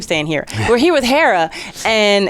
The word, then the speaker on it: Hera: O'Hara I keep staying here we're here with Hera and it's how I pronounce like here like Greek god no the